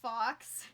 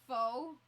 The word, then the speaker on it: faux: of the time they'll they'll call it fox because they don't know that it's pronounced faux i mean it's spelled